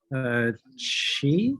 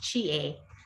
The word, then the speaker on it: Chie: Chi, is that how you pronounce her name? Chi Kawahara? It's pronounced Chie. Chi-A, okay.